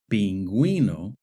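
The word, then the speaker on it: pingüino: But in the word veruena and in the word pinguino, the U is pronounced.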